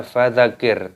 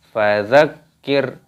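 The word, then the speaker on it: فَذَكِّرْ: tasydid maka di sini Jangan dibaca fadzakir tapi ditekan dan roknya di sini dimatikan fazakir innamasid hukumnya hunnah dibaca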